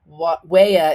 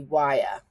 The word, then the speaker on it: Waya: Now, before the purists jump all over me, Wea is actually supposed to be Waya. But when I saw it, I said it wrong, but I liked it.